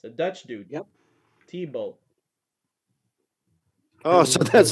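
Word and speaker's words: Thibault: T-Bolt. Oh, so that's how you pronounce it.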